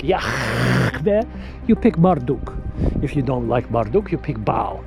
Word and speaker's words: Yahweh: His name is Yahweh. That's how you pronounce it. Yahweh. That's how you pronounce it, folks.